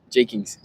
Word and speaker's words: Jeakings: J Kings. So, I am right in pronouncing his name.